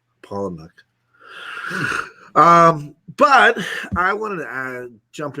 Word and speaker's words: Palahniuk: Huey says it's pronounced Paul Anuk. Palahniuk.